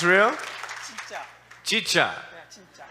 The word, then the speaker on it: 진짜: Chicha. 진짜. Chincha. It's a real smile. Chincha.